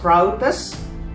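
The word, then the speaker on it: πραΰτης: god the word mick in greek or is pronounced proudest p r a u t e s it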